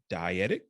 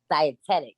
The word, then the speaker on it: dietetic: is a nasa double certified personal trainer a dietic nutrition consultant by day please correct me if i didn't pronounce that the right way two times two what how do you say it dietetic dietetic gotcha yeah two-time first place competitive female